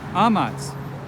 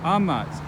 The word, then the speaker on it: amat: Amat. He loves. The stress falls on the second to last syllable. Amat.